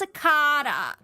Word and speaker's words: cicada: and I said to my housemate, see it's pronounced sicarta.